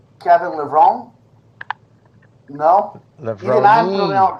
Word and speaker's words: Levrone: Levrone. Even I'm pronouncing correctly? It's Italiano, macaroni, Italiano, Levrone. No phony baloney, Kevin Levrone. So, o Kevin está falando, a maneira correta de pronunciar o nome dele é Kevin Levrone.